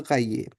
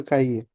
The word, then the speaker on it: cahier: Noter is a verb again to note, and cahier we know it's a word for notebook. H is silent here, right? So je partage mon écran, puis vous notez dans votre cahier.